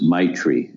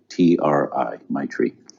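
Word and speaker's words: maitri: successful in this journey and the word is my tree m-a-i-t-r-i my tree and it translates as loving kindness and an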